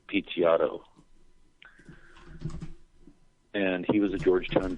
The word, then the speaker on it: Picciotto: It's spelled like Guy, uh-huh. Guy, uh-huh. And it's Picciotto.